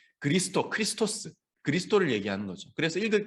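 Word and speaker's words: Χριστός: 그래서 이제 영어로 치면 K하고는 좀 다르고 CH 발음.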